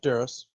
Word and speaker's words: Duros: notes uh this one would be a male Doros Doros Doros d r oos James how do you pronounce that Doros yeah duros okay sitting at it and just simple Brown